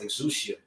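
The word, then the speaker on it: ἐξουσία: Now, particularly in this verse, the word power in the Greek that's pronounced exousia.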